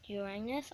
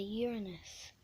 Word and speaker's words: Uranus: next is Uranus which it's not actually pronounced Uranus I really hate that name it's actually pronounced as a Uranus so it is a